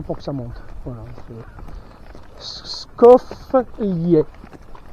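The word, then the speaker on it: Skoflje: Skoflie. Skoflie. S-K-O-F-L-J-E. Enfin E. Mais ça se prononce à l'italienne. Et le J en slovène et en croate, ça se prononce Y.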